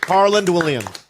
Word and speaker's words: Harland Williams: way harl Williams I didn't say his name Harland Williams thank you yeah you drink crush crush what